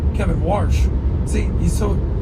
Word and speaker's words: Warsh: By the way, welcome to the big leagues, Kevin Marsh. Kevin Warsh. See, he's not even a known guy now. We got his name wrong.